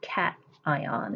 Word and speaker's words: cation: it's a positive charge it's a cat ion is how you say those so you can have atoms